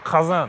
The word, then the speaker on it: kazan: There was a khazan. Did I say it right? Did I put enough kh? Yeah, kazan.